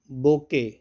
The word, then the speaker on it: bouquet: जो बग बोके, BOUQUET, T silent है।